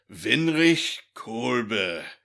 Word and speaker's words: Windrich Kolbe: Like the very first thing she does is she's like, his name is pronounced Windrich Kolbe. It's German.